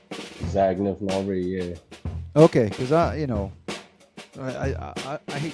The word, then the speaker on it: Zagnif Nori: Zagnif Nori, yeah.